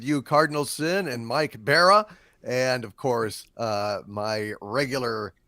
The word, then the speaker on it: Bara: Barra, I apologize. Mike Barra. You're still muted. It's Bara, not Barra. It is Bara.